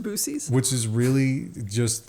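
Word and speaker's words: Buc-ee's: yeah well what we love bies it is a magical place pronounced booies which is really just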